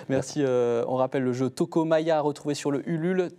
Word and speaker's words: Toko Maja: On rappelle le jeu Toko Maya, retrouvé sur le Ulule. Toko, T-O-K-O, Maya, M-A-J-A. Voilà, comme ça, c'est comme ça se prononce.